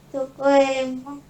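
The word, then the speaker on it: どこへも: Dokoemo itu bisa jadi bacanya dokomo aja.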